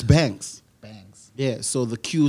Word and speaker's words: Banques: but that's the that's the right way it's banks banks yeah so the queue is coming like